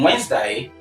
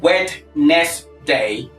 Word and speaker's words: Wednesday: class will be on Wednesday not on wed next day nobody is wedding okay all right the